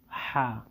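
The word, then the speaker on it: ح: 6 নম্বর হরফ হা। হাকে গলার মধ্যে একটু চাপ দিয়ে উচ্চারণ করতে হবে এবং 1 সেকেন্ড টেনে পড়তে হবে। হা হা হা হা। আসলে এই হরফের উচ্চারণও তেমন বাংলায় আসে না, তবু একটু দেখাই দিচ্ছি বোঝার জন্য।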